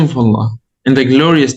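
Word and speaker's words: الله: When do we do it with Tafkhim? When there's the theme is heavy, so when there's Dhamma or Fatha behind it. Right, Ahsant, perfect. When there's Fatha or Dhamma before it or behind it, as you said. And also when you start with it, when you start with Allah or Allahumma, you do what? You do it heavy or light. Heavy.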